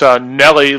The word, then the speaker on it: Newell: Newell. Actually, it's Nelly, like the rapper, but you know.